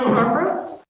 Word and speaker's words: Armbrust: Next, we have Armbrust. Sorry if I said that wrong. You said it right.